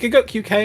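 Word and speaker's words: Gigguk: Is it Giguk UK or just Giguk?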